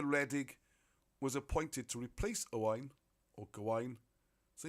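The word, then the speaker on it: Owain: was appointed to replace a wine or Goin so you see when you when you start using the right Welsh pronunciations a wine instead of Owen a wine and good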